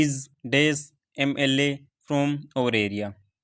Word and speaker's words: MLA: यहाँ पर MLA की जो साउंड है, प्रोनाउंसिएशन है, हम MLA को कैसे लिखते हैं, MLA, ठीक है। इसकी जो साउंड है, इसका जो प्रोनाउंसिएशन है वो है वोवेल साउंड, तो इस वजह से आर्टिकल एन हो जाएगा।